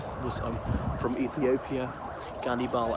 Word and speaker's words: Gannibal: Well, his great-grandfather was Gannibal, was from Ethiopia. Gannibal, as in their pronunciation of Hannibal.